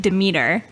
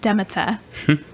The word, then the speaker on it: Demeter: about my last one, we pronounced it Demeter, but she would pronounce it Demeter, which was so much better sounding than how we say it.